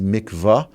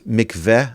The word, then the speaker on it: mikvah: The common pronunciation is Mikva, but it's MCV as well.